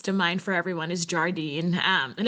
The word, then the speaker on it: Jardine: The one that comes to mind for everyone is Jardine, and everybody pronounces it differently. It's Jardin. Some people say Jardine. I'm sure there are other variations.